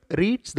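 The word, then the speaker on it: read: அதை எப்படி ப்ரொனவுன்ஸ் பண்ணணும் அப்படின்னா, student ரெட் the poem. So இந்த மாதிரி ரெட் அப்படின்னு சொல்கிறப்ப அது பாஸ்ட் டென்ஸ் அப்படின்னு அர்த்தம்.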